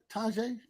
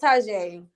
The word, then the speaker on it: Taji: Is it Taja? Tajay? It's Taji.